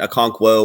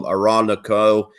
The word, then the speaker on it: Okonkwo: And Okonkwo, or as my dad would call him, Aranako. He always never pronounces it correctly.